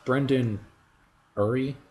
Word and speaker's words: Brendon Urie: the heartstrings a little bit it does plus brendon urie you yeah that's how you pronounce it the singer for panic at the